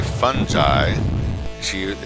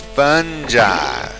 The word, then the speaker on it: fungi: can take direction so she told me it's fungi so I would say fun ty she but she would still go now Norman it's fun guy like she never thought